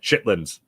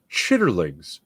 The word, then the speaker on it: chitterlings: do I absolutely do chitlins Harris FR say it right chitlins Trey would crack me up all the time because he would always say chitterlings chitterlings uh what do